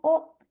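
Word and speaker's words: を: Nih, partikel wo dibaca wo, tetapi biasanya diucapkan o.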